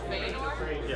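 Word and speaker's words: Fëanor: There's a similar name in Tolkien's work, and it's an elven guy, but it's pronounced Feanor.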